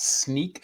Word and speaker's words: Snyk: I'm the field CTO at Sneak, which if you're not familiar is pronounced like a pair of sneakers or sneaking around.